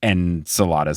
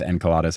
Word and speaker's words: Enceladus: talk to Dr Moya so the Greek is the accents on the second syllable and us is a Roman ending so I think they took the romanization of it first but um the original Greek is Enos and so Roman would be enkelados okay and I say